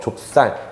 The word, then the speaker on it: 좁쌀: 좁쌀 같은 경우에는 조 더하기 중세시대 표기 전통상으로는 이런 모양인데 이 친구가 앞으로 붙고 얘는 쌍시옷으로 바뀌어서 좁쌀 이렇게 발음한다고 보시면 되겠습니다.